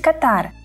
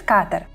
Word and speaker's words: Катар: Россиянам привычнее говорить «Катар», а в мире чаще произносят «Катар». Местные жители и вовсе делают два ударения, поэтому оба варианта считаются правильными.